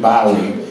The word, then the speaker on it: Bowie: David when he said Bowie cuz that's how they say it in England he's David Boe he barfed he went